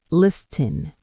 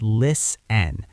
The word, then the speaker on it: listen: Oh, they usually try to say that T in the middle like listen. Exactly. But guys, listen closely. Pun intended. The letter T in listen is totally silent. It's lis n.